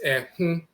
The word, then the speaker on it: Ehun: The Akan term Ehun is pronounced with a nasal O, so it's Ehun, which is directly derived from Ekhu or Aakhu and so forth.